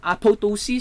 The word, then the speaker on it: apoptosis: One of my teacher in the university mentioned about how to pronounce this one. Apoptosis. Sabi niya, apoptosis. Silent second letter P.